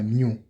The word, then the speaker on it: mu: has a unique uh symbol it's represented by mu it's a Greek letter it's represented by this Greek letter new is pronounced as Mu yeah then we have Nano